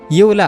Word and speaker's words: Eula: यूला, अच्छा यूला है उसका प्रोनाउंसिएशन। मैं उला बोल रहा हूँ कब से।